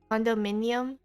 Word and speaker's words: condominium: actually you're not chilling are you it's minium condominium condominium oh yeah okay okay cool hopefully I